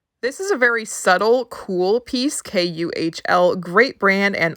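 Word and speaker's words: KÜHL: Might be a fashion sweatshirt, I don't know, but Cool is a really great brand. Here is the way that it's spelled, KUHL.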